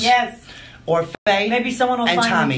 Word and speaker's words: Orfeh: Or Faye. Maybe someone will find Tommy. Me pronounce mine correctly.